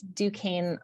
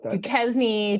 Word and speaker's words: Duquesne: that I should go through the uh phonetic pronunciation of our company name whenever we do the prep calls so I'm with Duquesne Light um also sometimes kezny Duchesne no it's always like a fun uh when